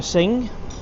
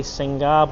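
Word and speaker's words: Singha: We have a sing, and it's in a condom. Keep it nice and cold. Yosh Travels, Thai say Singar, but yes, it's pronounced Sing.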